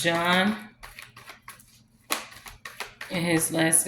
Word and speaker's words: Jean: Okay, he said you guys call him Gene, but it's Jean.